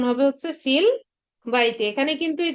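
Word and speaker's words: في البيت: তো এখানে ফিল বাইতি উচ্চারণ হবে হচ্ছে ফিল বাইতি।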